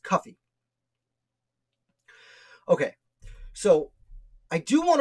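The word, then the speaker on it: Cuffee: And in this article, I also discuss his slave, which I believe is pronounced Cuffy Whipple. C-U-F-F-E-E. Like coffee, but with you. I believe it's pronounced Cuffy.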